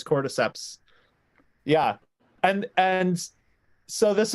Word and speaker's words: cordyceps: okay here's a question can anybody pronounce the name of the fungus like core decisions oh that's it I'm pretty sure it's cordyceps yeah and and so